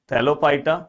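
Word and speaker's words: Thallophyta: तो ऐसे फाइटा फाइटा फाइटा, fight नहीं दोस्तों, थैलोफाइटा, ब्रायोफाइटा, टेरिडोफाइटा, इस तरह से आप 2-3 बार बोलोगे तो आपके दिमाग में स्पेलिंग बैठ जाएगी।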